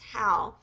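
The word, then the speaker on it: Howe: by Amy I think her last name is is pronounced how Amy how it's spelled h we um on June 28th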